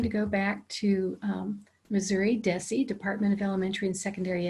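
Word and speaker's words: DESE: go back to missouri deci department of elementary and secondary education we usually pronounce that d-e-s-e as deci so you're going to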